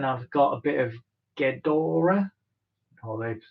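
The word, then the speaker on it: Gedore: Since then, I've got a bit of Gdora, although locals around here say Giodor, but I think it's pronounced Gdora.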